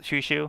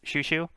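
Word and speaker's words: Chouchou: with the spelling uh it looks like Chow Chow but yeah it is pronounced shushu um I believe it's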